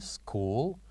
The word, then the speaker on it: school: And number 9, school, where also H is silent.